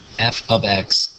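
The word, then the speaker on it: f(x): a different way of talking about it is f ofx is 3x - 2 and it's pronounced f of x and the next thing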